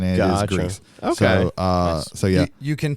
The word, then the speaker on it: Gris: in French and Spanish, it's pronounced gris in French and it is pronounced Grease in Spanish.